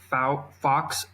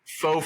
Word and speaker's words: faux: So if you look a little further down on Lola's, Lola prides itself on 4-way stretch fox fur fabric. How do you say that? Faux fur.